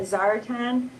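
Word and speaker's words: Czaritan: of going back and forth how you even pronounce it but it's CZ a r i t a n yep I call that zaratan okay and that's the old word for the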